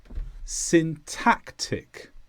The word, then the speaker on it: syntactic: is an adjective and the stress is on tack syntactic and this means relating to